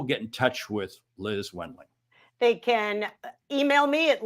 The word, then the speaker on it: Wendling: name is spelled Wendling. Correct. Don't go saying Wendling. It's Wendling.